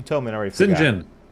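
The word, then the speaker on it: Cyngn: Singen. Singen.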